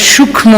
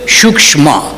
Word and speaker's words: সূক্ষ্ম: আমরা মারা যাই আমরা সূক্ষ্ম শরীর বলি তো বাংলায় উচ্চারণ করি সূক্ষ শরীর আর সংস্কৃত বা হিন্দিতে ওরা বলে সূক্ষ্ম সূক্ষ্ম শরীর তো সূক্ষ্ম শরীরটা কি